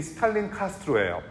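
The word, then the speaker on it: Starlin Castro: 근데 이 선수 이름이 스탈린 카스트로예요. 이 스탈린이라는 이름이 살짝 스펠링은 달라요. 스탈린이에요.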